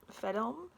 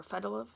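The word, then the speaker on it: Fedelm: The seeress and poet Fedilm, or Fedilov, depending on like if you're pronouncing Old Irish.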